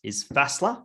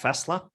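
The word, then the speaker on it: Faßler: There's my favorite one is Fassler, F-A, that S that looks like a B. Yeah. It's spelled like that, Fassler.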